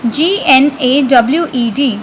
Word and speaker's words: gnawed: The spelling of gnawed is G-N-A-W-E-D, but G is silent in this word.